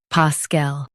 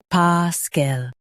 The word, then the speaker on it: paschal: Stress pa and keep cool, soft. PASCHAL, PASCHAL.